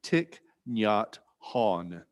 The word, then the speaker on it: Thich Nhat Hanh: to say his name the english pronunciation is tick nyat han however since vietnamese is a tonal language this is only a close approximation of how one would pronounce it in vietnamese by his students he